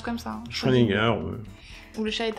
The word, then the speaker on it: Schrödinger: Ça se prononce comme ça. Hein. Schrödinger.